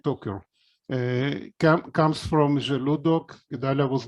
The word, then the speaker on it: Toker: So the Toker family, we pronounce it Toker, comes from Zeludok.